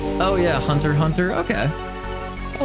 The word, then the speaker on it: Hunter x Hunter: I always called it Hunter times Hunter, and I've been corrected many times by that.